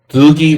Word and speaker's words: Dlugi: Dlugi rhymes with Drugi.